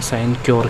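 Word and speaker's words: sinecure: है उसे कहते हैं साइनो सर साइनो सर साइनोस की spelling S आई एन ई सी यू एर साइन सोर साइन सर कहते हैं साइन क्यर कहते हैं अलग-अलग लोग अलग अलग बात बोलते हैं तो साइनोस साइनस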